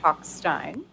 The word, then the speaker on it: Talkstein: I didn't know how it was pronounced, so he told me that it's pronounced Talkstein.